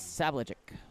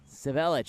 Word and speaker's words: Civelich: shot and goal by number three Nicholas savagek civelich excuse me civelich on the pronunciation shot over the top